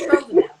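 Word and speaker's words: sotrovimab: wrong, maybe you know how to say it, Sirtovimab. It's the one that, Yeah, I think you did better than me at pronouncing it. Sirtovimab.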